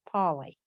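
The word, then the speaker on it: Paoli: to me what's his name his name is paulie paulie okay yeah it felt italian p-a-o-l-i but pronounced paulie okay all right okay well that's what i'm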